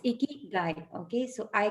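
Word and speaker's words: ikigai: make it as people or men or and ikikai was actually uh pronounced wrong it's icky guy okay so i k i g i think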